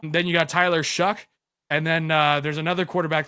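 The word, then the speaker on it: Shough: Tyler, how do you pronounce Shaw, right? I heard it pronounced as Tyler Shuck.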